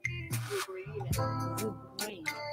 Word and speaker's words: De Bruyne: Kevin, is it pronounced as Brian or De Bruyne? De Bruyne. You were saying Brian.